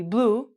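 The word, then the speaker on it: blew: past tense would be blue the exact same pronunciation as the color and oh no the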